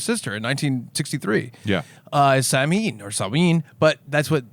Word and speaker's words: Samhain: He finds clues, and I it's spelled Sam Hain. I know that's not how you pronounce it, but It's I don't know. Samhain.